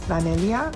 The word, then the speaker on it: Danelia: So for example, when I introduce myself to people with my full name, Danelia, sometimes I'll say my name is Danelia, like Amelia, which was my great-grandmother's name.